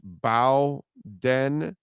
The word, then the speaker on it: Bowden: make the team, but it's pronounced Bowden. Oh, Bowden. You're talking about okay, all right. You got it. Bowden. Okay. Not Bowden. So it's not Bowden, it's Bowden, like in Bobby.